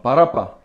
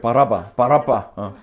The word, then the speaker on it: 바라바: 새한글 성경은 가능한 원어 발음에 가깝게 번역해서 그래요. 우리가 가진 한글 성경은 한국 사람들이 좀 발음하기 편하도록 조금 발음을 바꿨어요. 예슈아를 예수로 바꾸고 바라바로. 실제로는 이렇게 바라빠.